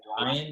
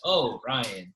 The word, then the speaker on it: Orion: up in Hawaii, like a lot of people don't know how to say Orion. They think I'm saying like, oh, Ryan.